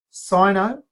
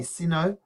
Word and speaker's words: Sino: Sino, sometimes Americans say Sino, but Sino is more common.